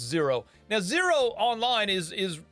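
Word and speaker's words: Xero: another one called zero it's spelled funny x e r o but it's pronounced zero now zero online is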